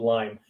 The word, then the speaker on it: Lyme: I learned the first year it's called Lyme. That's interesting. Well, I've said it wrong then for 20 years.